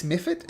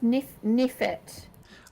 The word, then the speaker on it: mephit: Nephit? Ice mephit is what they're called. M for Malcolm. Like that. Mephit. Mephit. But with a And PH.